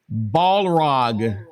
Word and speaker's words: Balrog: Any thoughts on Balrog being 50 Cent?